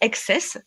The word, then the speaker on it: XCSS: consacrer à mon projet on peut prononcer excess même si c'est écrit TSS mais SS climat voilà